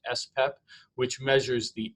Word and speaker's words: SPEP: And the level of the full antibody is usually measured in a test called the serum protein electrophoresis, or SPEP, pronounced SPEP, which measures the M spike, also known as the M protein or myeloma protein or monoclonal protein.